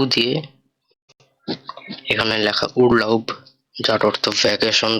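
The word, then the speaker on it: Urlaub: পরবর্তী ওয়ার্ডটা উ দিয়ে, এখানে লেখা উরলাউব, যার অর্থ ভ্যাকেশন বা ছুটির সময়। এটার উচ্চারণ হবে উ এর এল আ উ বে, উরলাউব, অর্থাৎ ছুটির দিন।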